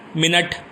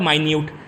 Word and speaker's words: minute: Spelling same होगी, pronunciation different होगा और मीनिंग भी डिफरेंट होगा. एग्जाम्पल कंसिडर करेंगे, मिनट जो हमारी टाइम की यूनिट है, मिनट, और माइन्यूट, MINUTE, दोनों की स्पेलिंग है.